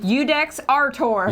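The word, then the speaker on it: Iudex Artor: Udex Artor. Udex Artor, spelled with an I. It was beautiful. Because phonetically, I sounds like a U. IU is U.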